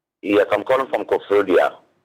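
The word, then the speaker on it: Koforidua: Well, thank you very much for calling us from Kofodia like that's the appropriate pronunciation. Kofodia.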